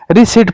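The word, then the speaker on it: receipt: टी पहला शब्द और रिसीट पढ़ते हैं इसे आर ई S double E टी बट आर ई सी आई ई पी टी यहां पर आर ई एस आई पी टी नहीं है तो आर साइलेंट है आर ई सी ई आई पी टी यह तो गलत है देखो देखो ये गलत है। आर ई C double E पी टी ये भी गलत है।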